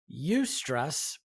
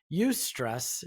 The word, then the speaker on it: eustress: So there's eustress. Now, eustress is weird, John.